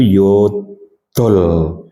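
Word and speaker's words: 여덟: Tas ya bukan tasos tapi tasot en yos 7 ilg 8 yodol ingat ya pengucapannya itu yod dol bukan yodol tapi yodol untuk huruf d itu lidahnya agak dicepit dengan gigi ya yodol seperti orang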